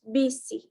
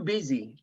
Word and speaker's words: busy: busy for an internship you don't you don't pronounce bc busy sorry you don't pronounce too busy busy it's busy you probably it's sse it's